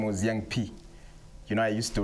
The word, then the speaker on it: Young P: Okay, first my stage name was Young P.